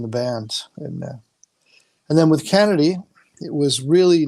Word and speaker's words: Canedy: Is it Kennedy? That's right. Canedy Cool. is the correct So, pronunciation.